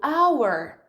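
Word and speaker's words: hour: House e também vai isso aqui com a pronúncia da primeira vogal por exemplo Hauer Hauer a Warner Honor quando começar então com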